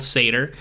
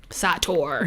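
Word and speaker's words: Sator: saw the trailer so the movie is called seder s-a-t-o-r it's called satyr i wasn't trying to pronounce until that's how they said it in the movie um satour we saw the trailer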